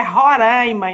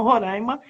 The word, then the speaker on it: Roraima: Que ela já falou para mim que é Roraima e não Roraima, como a gente aqui fala no Rio muito, né?